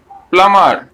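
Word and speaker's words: plumber: এম বি কি হবে, lamp, কারণ আমরা বি উচ্চারণ করব না, এটি হলো ল্যাম, এটি হলো টোম, এটি প্লামার, পি এল ইউ এম বি ই আর, প্লামার,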